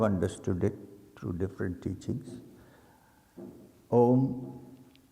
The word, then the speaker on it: Aum: Om is divided into three syllables normally. A, U and M. Ma, when you chant Om it's only Um.